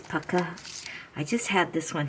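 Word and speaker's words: Pukka: pronounce this particular brand my partner teacher says it's pakka i always said puka but maybe it is pakka i just had this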